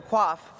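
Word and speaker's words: Coif: someone who easily made order of the quaff not someone who had been mispronouncing it order of the queef for the past three years or perhaps someone who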